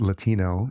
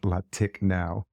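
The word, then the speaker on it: Latiknow: to this day because in his mind it was Lati no k-n-o-w which unfortunately proved challenging to convince folks it wasn't pronounced latic now and we gave it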